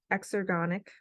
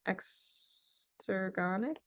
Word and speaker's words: exergonic: it an X EXO exergonic I always say this word wrong and spell it wrong extergonic It's associated with the